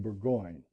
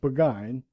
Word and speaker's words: Burgoyne: Nutting had a famous foxhound named Burgoyne. He pronounced it Buggine, which my informant used to borrow.